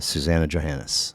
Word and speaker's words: Suzannah Johannes: Of Badass Records podcast and uh Susanna Johannis. Welcome. Yeah. Am I pronouncing it right?